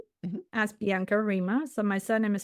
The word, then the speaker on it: Riemer: Yeah, so I'm on LinkedIn as Bianca Reema. So my surname is spelled R for mother Eer.